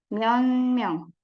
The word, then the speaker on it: 몇 명: Jadi ada bacim ciet, kemudian ketemu sama M. Jadi seolah-olah bacanya 몇 명. Jadi N ya.